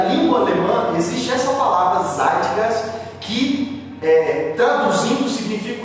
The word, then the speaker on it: Zeitgeist: Tem uma palavra em alemão, a palavra eu acho que pronuncia assim, Zeitgeist, eu acho que é assim que pronuncia, Zeitgeist.